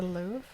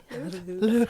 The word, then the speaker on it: Louvre: We learned when we did the French degree, you have to stick your lips out a lot farther than feels normal Say it again.